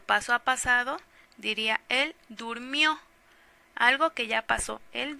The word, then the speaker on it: durmió: a pasado diría él durmió algo que ya pasó él durmió entonces lleva acento en la última sílaba en la durmió si no diría el durmió y no se escucha bien o él comió no